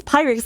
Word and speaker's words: Pyrex: Loved your interviews with Py. Yeah. Uh, Pyrex. Oh my god, I keep saying Py. It's Pyrex, like the Pyrex brand.